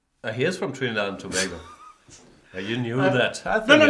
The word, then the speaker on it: Tobago: And I pronounced Tobago correctly. Wow. In German we say Tobago. Do you? No, that's probably Spanish.